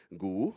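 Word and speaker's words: 牛: Well, yes, gu, exactly. But gu only appears when it's by itself. When you combine, it changes into something else. So when it is in the word for beef, it's not gu ba, no, it's gu ba.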